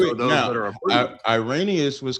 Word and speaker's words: Irenaeus: It's Irenaeus.